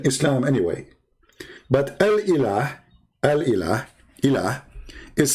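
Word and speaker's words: إله: But al-ilah, al-ilah, ilah, is simply E-L, and there is little H at the end, like a sound of a music. Ilah. Still, it's ilah. It's not Allah. It is Il. Idiot. Il. Ilah. That sound at the end, the little tiny H, it's not really even an H. It's like a music sound.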